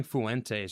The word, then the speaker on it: Fuentes: How do you say Fuentes?